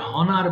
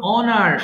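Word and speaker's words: honor: harass ওনার সম্মান করা এটা অনেকে ভুল করে হনার বলে ফেলে হ্যাঁ দেখো ও এর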